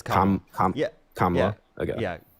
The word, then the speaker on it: Kamala: It's not Kamala, right? It's Kamala.